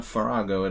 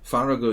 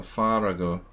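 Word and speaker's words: Faragó: farago yvonne farago yvonne it's so hard for me to say farago it's just not a sound i'm used to making i always mispronounce his name fargo ivan likes rookie one and the queen's indian fargo it's just that a sound is so weird for me as a as an american english speaker ah i go far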